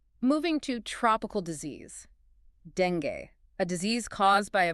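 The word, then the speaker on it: dengue: Okay, it should be pronounced d e n g or sometimes dan gay with the stress on the first syllable. You have to avoid the hard g sound you might expect in English.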